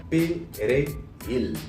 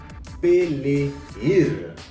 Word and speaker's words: Perejil: arrivent sur vous et puis ils disent pour prononcer persil. En espagnol, ils disent persil. Perejil. En pile fois, les arrivés sur haïtien, je dis prononcer haïtien yo te qu'on dit pelehir pour ouais si c'est haïtien ou yé.